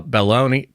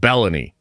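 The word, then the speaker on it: Belloni: out to Matt uh baloney I got to figure out how to say his name better cuz his name isn't baloney I think it's like bellany I I shouldn't call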